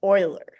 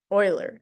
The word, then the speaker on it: Euler: his name is pronounced oiler oiler and so this is an oilerian path so it's pronounced like oiler Um I don't want I don't remember what nationality he was.